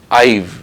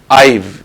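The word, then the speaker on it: I've: करके, शॉर्ट करके, और इसे आप प्रोनाउंस करेंगे आईव, आईव, आईव, आईव spoken to हिम, आईव informed him, आईव गिवन हिम।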